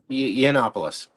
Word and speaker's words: Yiannopoulos: Scott, is it Yiannopoulos? How do you say his last name? Yiannopoulos.